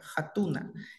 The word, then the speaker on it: hatuna: con el verbo jatuna pronunciamos la H como la j hatuna y es el verbo vender